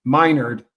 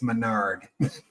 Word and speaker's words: Menard: And the teacher every year in every class would start off and say Minard, and she'd go, yes, and it's Menard.